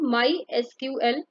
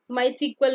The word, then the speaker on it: MySQL: database management system और इसको हम माय एसक्यूएल प्रोनाउंस करते हैं माय सीक्वल नहीं कहते जबकि एसक्यूएल को हम सीक्वल पढ़ते हैं ठीक है लेकिन माय एसक्यूएल को हम माय एसक्यूएल ही पढ़ते हैं फिर हम देखते हैं